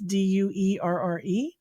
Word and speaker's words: Duerre: It's Duerre. I tell people it rhymes with jury.